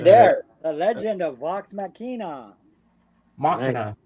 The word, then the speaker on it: Machina: Yeah, Right there, the Legend of Vox Machina. Machina. It's pronounced Machina.